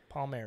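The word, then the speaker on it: Palmeri: Mar's I'm GNA say that wrong you how pronounce that name p a l palmary Jim palmary 50th 50th American flying disc open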